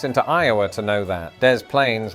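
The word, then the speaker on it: Des Plaines: got speaking to somebody who was from Dez Plains in Illinois. And it got me wondering why does one of these French sounding places keep the S's and the other doesn't.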